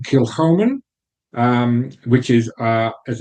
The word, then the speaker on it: Kilchoman: talk about so this expression from kilman the pronunciation kilman um which is uh as it says isa's